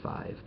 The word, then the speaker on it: V: I found out that their new album, 5, Roman numeral 5, they said it's pronounced 5.